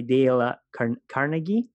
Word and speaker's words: Dale Carnegie: how to win friends and influence people by Dale Carnegie right that's the way you pronounce it now I've read this some time